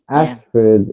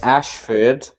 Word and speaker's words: Ashford: f-o-r-d-s oh ford okay ashford ash you speak like an american ashford that's how i'd say it but ash ford is how you spell it so the first one's phonetic and where is that ashford